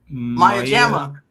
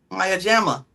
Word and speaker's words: Maya Jama: I don't know how to pronounce her name. Maya Mayajama. Maya Jama.